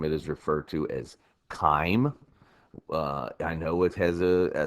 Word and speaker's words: chyme: its liquid form it is referred to as time I know it has a CH there but it is pronounced time almost as if it started with a k' so it's not chime it is pronounced time time is the result